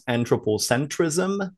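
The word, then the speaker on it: anthropocentrism: today the topic is anthropocentricism which uh you can also pronounce anthropo centrism so without the CI right here though it's up to you I say anthropocentricism because that's just the way I've always said it so um if you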